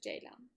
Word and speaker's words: ceylan: I'm not really sure, but and it's pronounced J like the letter, and lan as in Mulan. The letter C in Turkish makes a J sound, whereas the letter J makes a J sound.